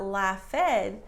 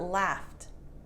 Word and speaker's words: laughed: hahaha laugh is not la fed but laughed so it's a t sound right that's so cool